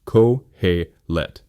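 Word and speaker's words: Qoheleth: Let's begin with the book's Hebrew title itself, Cohellet, spelled Cohellet and pronounced Cohlet.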